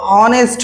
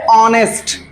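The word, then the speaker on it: honest: हाँ, इसको अपने यहाँ जो प्रोनाउंसिएशन होता है वो हॉनेस्ट होता है, लेकिन होता क्या है? ऑनेस्ट।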